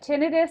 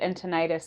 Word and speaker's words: tinnitus: goodness that's hilarious but tinnitus it tends to be how a lot of audiologists uh pronounce it but entonitis is general public but both are correct fantastic fantastic so let's